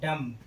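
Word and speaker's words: dumb: डम, डम माने होता है गूंगा, यहाँ बी के पहले क्या आया है, एम, इसलिए यहाँ पर बी का उच्चारण नहीं होगा, बी क्या रहेगा, साइलेंट।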